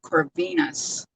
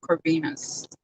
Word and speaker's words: Corvinus: disney i met howard corvinus his name rhymes with uh tennis venus howard corvinus he showed me his